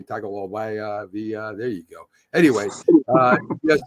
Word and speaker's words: Tagovailoa: And I'm not even going to try and pronounce his last name. Tagovailoa.